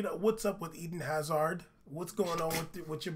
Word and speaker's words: Hazard: You can't pronounce his name right. Right. Okay. It's Hazard, son.